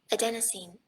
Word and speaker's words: adenosine: So let me look this up, adenosine, because the whatever is capitalized is going to tell you which syllable gets the emphasis. Adenosine. All right. Google says that it's pronounced adenosine, so let's go with that.